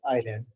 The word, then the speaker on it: island: Madagascar is fourth largest आइलैंड पूरी दुनिया के। अगर हम आइलैंड की बात करें, जजीरों की, आइलैंड की स्पेलिंग है ISLAND। आपने आइसलैंड नहीं कहना, आइलैंड कहना है।